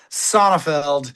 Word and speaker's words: Sonefeld: Uh, it's been pronounced so many ways. I find them all somewhat beautiful in their attempts, but Sonofeld is what we're going with today.